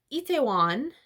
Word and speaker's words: Itaewon: And then she, like, writes this address down in Itaewon. That's how you pronounce it.